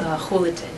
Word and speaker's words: Julaton: as much as we would tell them my last name, even though it starts with a J, they'd mm-hmm. always mispronounce it. It sounds like an H, sounds like an H, and we came with a moniker.